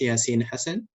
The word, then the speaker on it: Yassin Hassan: It's pronounced Yassin Hassan.